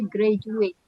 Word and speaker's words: graduate: Sama ini graduate ya tulisannya graduate tapi bacanya graduate. Jadi D itu dibaca J. Graduate.